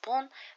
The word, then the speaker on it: bonne: We pronounce the same. It's still pronounced bon, but because nuit is a feminine noun, we use this addition. Bonne nuit.